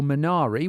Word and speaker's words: Minari: Roots uh particularly with the film Miner or minari we pronounce it two different ways in this conversation